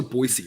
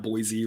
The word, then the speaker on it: Boise: um we talk about it's also boise right not boise right this is another thing